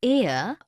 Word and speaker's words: heir: Because the words heir, honest and hour begin with a vowel sound, as the initial consonant H is not pronounced.